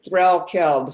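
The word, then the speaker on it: Threlkeld: It's Threl Keld, so it's pronounced just like it's spelled.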